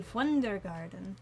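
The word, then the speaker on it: Wundergarten: Now, because Wonder Garden is German, I typically pronounce it with a German pronunciation. So, it would be fun garden.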